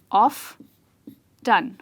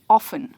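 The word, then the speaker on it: often: ये जो TEN है, ये घड़ी वाला 10 नहीं है, पर ये टन है। ओके, आप इसे ऐसे प्रोनाउंस करेंगे, ऑफ टन या फिर ऑफन। तो या तो ये होगा ऑफ्टन या फिर होगा ऑफन. गुड.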